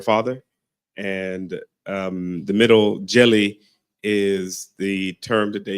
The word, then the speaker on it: Djèlí: name of her father and um the middle jelly is the term that they use for um